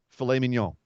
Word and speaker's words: mignon: Can you say filet mignon again? Filet mignon. Mignon. That's how it's pronounced.